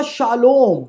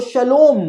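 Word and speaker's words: shalom: Hebrew accent के अंदर शालोम को शलोम कहा जाता है, लेकिन अधिकतर उसकी करेक्ट प्रोनाउंसिएशन जो है वो शालोम ही होती है।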